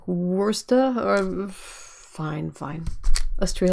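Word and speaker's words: Worcester: happens with I'm gonna I know I'm gonna say it wrong but Worchester like it's like werster or fine fine let's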